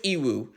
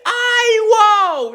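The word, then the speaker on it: Iroh: says my name is EO and oh my God that name is pronounced incorrectly it's IO not e for God's sakes I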